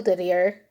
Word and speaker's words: Didier: So anyway, Escanor is now Evralt, and his knights are Henri, Geoffrey, still Didier, that's how it's pronounced, because that was a name then, and Bram.